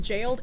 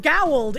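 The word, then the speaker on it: gaol: No way that said like jailed. It is. It should be pronounced gowled in my professional opinion, but apparently it's pronounced jailed and I hate that it is.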